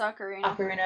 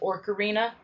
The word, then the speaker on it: Ocarina: it's Legend of Zelda I want to say ocarina of time yeah that's the proper pronunciation of it yeah it's ocarina of time I used to pronounce it or Karina arena you can imagine it